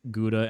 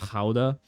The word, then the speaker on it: Gouda: And I apologize to all of my Dutch viewers for pronouncing it gouda and not ha.